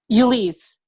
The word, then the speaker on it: Elise: the same feed so how do you say your name again Elise you lease okay Elise you lease a car ah okay all right